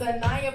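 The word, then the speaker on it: Aniaha: A-N-I-A-H-A, don't spell it the wrong way. Don't do it. A-N-I-A-H-A, it's Anaya, but it's not really Shania.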